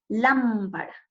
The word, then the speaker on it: lámpara: siempre llevarán una tilde en el caso de la palabra lámpara miren última penúltima y antepenúltima sílaba lámpara nosotros nos damos cuenta a la hora de pronunciar la que la mayor fuerza de voz se hace en la por lo tanto es una palabra esdrújula porque su sílaba tónica está en la antepenúltima antepenúltima será de igual